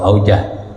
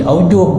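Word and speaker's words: أوجه: Kalau aujah, kalau aujuh, ya, itu beberapa pendapat. Terbukti ada mufradnya di sini. Kalau ada mufradnya berarti jamaknya aujuh, ya kan? Bab ada mufradnya, gitu, wajhun. Ada mufradnya berarti aujuh bacanya, gitu.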